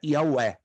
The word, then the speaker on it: Yahweh: Mas Jeová não é a pronúncia correta, é uma transliteração, vem do grego. O correto é Yahweh, ou YHWH.